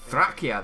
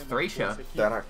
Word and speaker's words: Thracia: Thrakia, that's how that's pronounced? I thought it was Thracia.